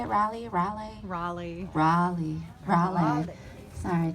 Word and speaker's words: Raleigh: one more reader Audrey t Williams moved from Raleigh North Carolina is that how you say it rally rally Raleigh Raleigh Raleigh sorry California girl okay